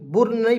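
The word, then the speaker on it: burn: बी यू आर एन बुर् नहीं पढ़ेंगे बर्न पढ़ेंगे क्योंकि इसमें भी यू साइलेंट रहेगा तो बी यू आर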